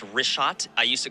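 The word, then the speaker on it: Richat: first couple I just want to say it's rot I used to call it rick hot I was mispronouncing it but let me ask you this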